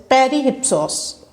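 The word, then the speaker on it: Περὶ ὕψους: On the Sublime is a Greek work of literary criticism, and in Greek language the term on the sublime is pronounced as perihypsos, and the main objective of this work is to define qualities of an elevated and great writing.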